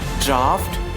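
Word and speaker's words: draught: So people usually say drought. Drought is not a suitable word. Actually, D-R-O-U-G-S-T, that is perfect word. You can say drought, but if A-U-G-S-T, that pronunciation will comes F. So correct pronunciation is draft, cough, laugh, and tough.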